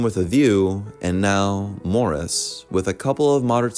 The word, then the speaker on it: Maurice: are talking about Morris pronounced like Morris not Maurice which I first made